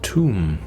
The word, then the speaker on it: Thumb: Pacusis pusilium, pronounced tomb.